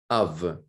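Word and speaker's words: אב: la signification 2 av av on prononce avait pourant français pour dire avait puisque la deuxième lettre la lettre bête se prononce v on a truvo je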